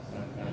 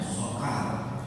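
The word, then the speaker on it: سقر: tahu apa nada sakar itu? Iya. Jadi dibacanya sin sakar. Kalau dibaca shad itu artinya huruf kelam, ya sokar. Nah, jadi orang ini sokar artinya huruf kelam. Tapi kalau sakar itu neraka sakar.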